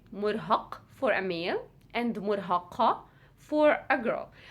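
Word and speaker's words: مرهق: english so it's the so it's the heavy k so you would say murhaq for a meal and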